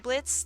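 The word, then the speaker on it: Blitzø: boyfriend uh boyfriend uh Blitz the O is silent um then we had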